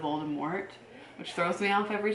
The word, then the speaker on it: Voldemort: He pronounces things weird, like he says Voldemort instead of Voldemort, which throws me off every time.